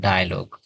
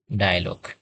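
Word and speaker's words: dialogue: আমরা এখানে বলি ডায়লগ, এখানে আয়ের মতো উচ্চারণ করি। এর উচ্চারণ হবে এর মতো, কারণ এখানে এই আই এবং এ এই দুইটা সাধারণত পাশাপাশি আছে একটি শব্দে। সুতরাং এটা উচ্চারণ হবে কি ডায়ালগ, এ এর মতো উচ্চারণ হবে।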